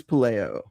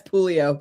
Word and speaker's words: Puleo: Yeah, it's Pulio.